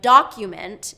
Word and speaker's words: document: So in document, it's first syllable stress. Document.